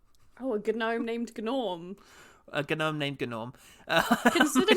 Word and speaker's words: Gnorm: And Norm is spelled also with a silent G. Oh, a gnome named Gnorm.